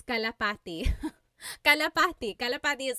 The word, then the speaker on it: kalapati: Local Cry said, how do you pronounce kalapati?